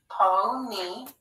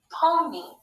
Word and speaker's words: pony: let's read this word pony pony again y is saying e in that final syllable another thing to know